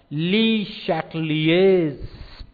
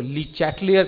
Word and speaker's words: Le Chatelier: सूत्र का जिसको हम ली शैटलिएज प्रिंसिपल कहते हैं, ली शैटलिएज, ये फ्रेंच नाम है, और ये हमारे यहाँ आमतौर पर उसको ली चैटलियर कहा जाता है, आप स्पेलिंग चेक कर लीजिएगा।